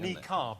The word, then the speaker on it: niqab: But we also put, I think it's either naquib or nakid. It's something like that. It's like a naquib or something. Niqab is how it's pronounced.